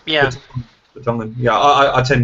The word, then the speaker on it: Vertonghen: I don't know how to pronounce it. Gundogan. Vertonghen. Yeah. Vertonghen.